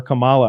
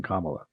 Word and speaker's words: Kamala: or I keep get corrected on how to pronounce her name but I don't mean to disrespect when I call her Camala I just thought it was her [ __